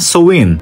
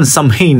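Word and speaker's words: Samhain: festival na tinatawag na soin. Parang kung titingnan natin samin eh no? Pero ang pronunciation niyan ay so na ipinagdiriwang ng mga Celtic people sa Irland, Scotland at northern France.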